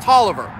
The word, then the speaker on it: Tolliver: Spelled Taliaferro, but it's pronounced Tolliver. These three get together.